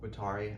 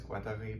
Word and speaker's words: Guattari: say Duo and guari which I'm going to say guari I know it's GUI but I'm not going to pronounce it that way over and over because I'm